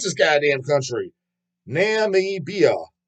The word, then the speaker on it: Namibia: Nam holy Nami can't you pronounce this goddamn country Namibia n m i b i a don't know